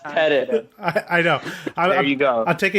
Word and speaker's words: Pettit: It's pronounced Pettit.